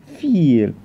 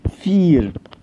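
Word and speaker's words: vier: يبقى دي هتتنطق دراي، لكن عكسها الاي اي بتتنطق اي، يبقى دي فير. ولاحظ ان الحرف ده الفاو بيتنطق زي الفه بالعربي او الاف بالانجلش، فبقول فير. رقم 5 فونف، ما فيهوش اي مشاكل.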